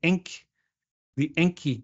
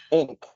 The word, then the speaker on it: Encke: The Encke gap. ink, Encke. ink. Yeah, that's it. The Enck gap or ink. I guess you probably pronounce it Enck or ink.